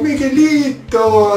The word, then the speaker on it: Migalito: And how you say it is Migalito! Because that's how you'd be greeted. That's how I was greeted. Oh, Migalito!